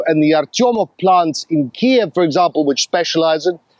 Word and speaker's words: Kyiv: NATO well this was uh the largest on Kev by Russian forces it's pronounced ke over the summer perhaps the biggest